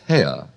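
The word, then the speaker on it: Haigha: His name is Hare." He pronounced it so as to rhyme with mare.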